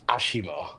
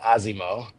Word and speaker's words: ASIMO: so, so the Japanese pronunciation is Ashimo, all right? Ashimo. But yes, I think most of us call it Asimo.